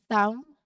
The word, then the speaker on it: thumb: out for it late after an M at the end of the word or before a T. So these are consistent patterns in English that will help you pronounce these words accurately. Let's try saying these words aloud together, really focusing on keeping that B quiet where it should be.